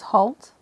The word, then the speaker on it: Haute: Now, first of all, how do I pronounce this? It's Haute.